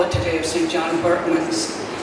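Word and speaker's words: Berchmans: John Berkman's, and I'm saying Berkman's, and most people around here pronounce it as it's spelled, Birchman's. But when we started the boys' school in 2006, we asked the Jesuits what was the correct pronunciation, because John Berkman's was from Dietz, Belgium, which is in the Flemish part, is really pronounced Berkmans. So both are acceptable, but that's why you'll say Berkman's.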